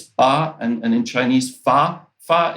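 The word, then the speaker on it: 八: in China, in Chinese, because it's Ba, and in Chinese, Fa. Fa is actually means lucky, and 8 is pronounced Ba.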